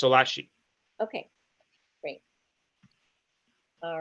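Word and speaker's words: Schlaillace: and his last name it's pronounced differently than it looks so his last name is spelled s-c-h l a i-l-l-a-c e okay great and it's pronounced solachi okay great all right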